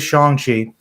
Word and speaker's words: Shang-Chi: and by the way, I realized it was Shang-Chi by watching the film. I thought it was Shang-Chi because I guess I just didn't know the Chinese pronunciation, but it is Shang-Chi.